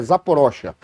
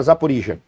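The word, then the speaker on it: Zaporizhzhia: e zapor Isa zaporijia os russos chamam falam a pronúncia russa eu tenho impressão que é zapor ocha até quando a gente já vê quando o cara é russo quando é ucraniano ucraniano ele fala zaporijia o o Russo fala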